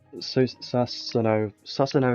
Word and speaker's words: Susano: Susano is how you say it.